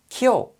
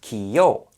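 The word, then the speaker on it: きょう: and it's pronounced as ki yo which is wrong it's supposed to sound like kill here the blend there much faster and smoother so to blend these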